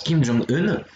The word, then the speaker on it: Kim Jong-un: se prononce de la même manière, il se prononce Kim Jong-un, enfin Kim Jong-un, donc ça va être le président de la République populaire démocratique de Corée, donc Kim Jong-un.